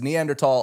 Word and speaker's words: Neanderthal: The Neanderthal. H is silent.